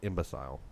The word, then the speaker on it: imbecile: So, so imbecile should definitely be imbecile. Imbecile.